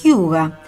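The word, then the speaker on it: hygge: palabra del año 2006 que se pronuncia huga es un concepto que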